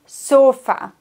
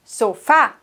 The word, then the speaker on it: sofá: Die meisten sagen el sofa, weil sie das im Deutschen eben auch so aussprechen. Aber hier kommen wir wieder auf die erste Regel zurück. Wie muss es lauten? Du weißt es inzwischen schon besser. El sofá. El sofá. Muy bien. Die Betonung auf der Silbe mit Akzent.